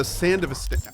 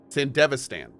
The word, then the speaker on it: Sandevistan: And wait, if I'm not mistaken, if we use a Sandvistan, I can never pronounce this properly. Sandvistan? Where is it? Sandvistan. Sandevistan. Oh, there's an E in there.